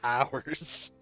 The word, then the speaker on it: Oars: All right, the ship is now And called the Hours. But it's spelled oars.